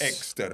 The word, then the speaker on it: Exter: it the new Hyundai am I saying it right exter exter yes exter not enter exter yeah okay uh Char